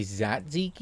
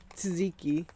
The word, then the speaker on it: tzatziki: How do you say tzatziki or do you say zatziki? I say tzatziki. Or do you say Tzatziki. Greek sauce? Tzatziki. You have to like kind of put the T and Z together, like tzatziki.